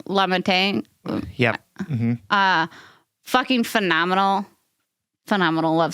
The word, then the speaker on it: LaMontagne: LaMontagne.